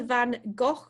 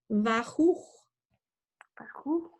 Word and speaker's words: Van Gogh: Okay, well, I'm going to start by telling you that it's not the Van Gogh Museum, because I understand and have learnt from my visit that it's actually pronounced Van Gogh.